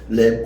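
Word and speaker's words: lamb: 랜 NA 잘 모르겠더라고요 그래서 찾아봤더니 램 비는 발음을 안 하더라고 램 오브갓 하나님의 어린 양이다 여기에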